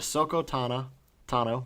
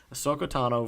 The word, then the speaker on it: Ahsoka Tano: one for the light side we had a sooko Tana Tano wow can't even say her name Ahsoka Tano versus Captain Rex yes yes and this was